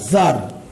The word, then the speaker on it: tsar: উচ্চারণটা কি? TSAR, জার, টিটা সাইলেন্ট থাকবে।